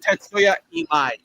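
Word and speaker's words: Tatsuya Imai: His name is pronounced Tetsuya Imai.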